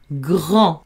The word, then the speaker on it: grand: M, on, mon, gr, en, grand, avec un D qui s'écrit et qui ne se prononce pas.